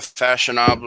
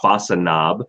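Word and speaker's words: Façonnable: But I think I have over there a fashionable. A what? Fashionable. What is that? I actually got corrected on this. It's pronounced Fasanabe because it's French, and I had a lady actually.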